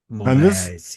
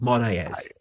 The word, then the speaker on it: Moraes: I think Tony can probably pronounce it better than me. Moraes, yes. Sorry? You did a good job. Moraes.